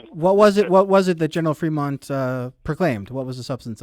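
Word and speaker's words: Frémont: Can you tell us a bit about the Fremont Proclamation and what that meant here?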